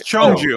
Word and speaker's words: Cheongju: I'm not even going to try to pronounce that city. You got one in Singapore. Oh wait, Singapore? Go back. It's Cheongju.